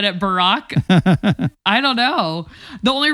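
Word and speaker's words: Barak: um and you know oh Brack is it Barack I can't even pronounce his name oh yeah it's not Barack Obama it's the other Barack you're the one in scripture there you go Barrick there you go see you know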